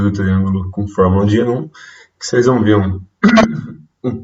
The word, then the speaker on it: Heron: Heron se escreve com H-E-R-O-N.